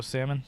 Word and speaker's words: salmon: Do you pronounce the L on it, Mark? Yeah. No. So, you just go salmon.